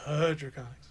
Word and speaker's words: HDraconics: Draconics. It's too long. Draconics. The H is silent.